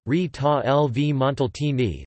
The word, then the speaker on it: Rita Levi-Montalcini: Rita Levi-Montalcini, Italian pronunciation, Rita Levi-Montalcini, 22 April 1909 to 30 December 2012, was an Italian Nobel laureate, honored for her work in neurobiology.